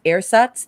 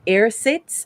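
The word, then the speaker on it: ersatz: to think what what's air sats that's the us pronunciation of air sits and of course that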